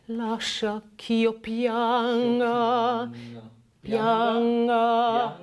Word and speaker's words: pianga: Lascia ch'io pianga, pianga. Pianga or pianga? Pianga. It's not a very hard G there.